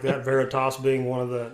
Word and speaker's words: Veritas: Hey, listen, thanks for sharing all your music with us this evening in that new EP, Veritas?